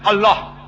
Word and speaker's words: Allah: Similarly, we know how to pronounce correctly Allah. They say Allah, we say no problem. The right pronunciation is Allah.